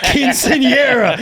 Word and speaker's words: Quinceañera: Quinceañera. It's not Quinceañera, dude. It's Quinceañera.